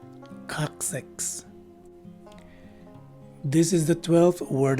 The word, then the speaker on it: coccyx: sound as indicated by the diaeresis symbol over it. The second letter C again takes a K sound, and it's an S sound for the third letter C. And lastly, the letter Y takes a short I sound, and the letter X at the end of the word takes the usual KS sound. So the right way to say this word is coccyx.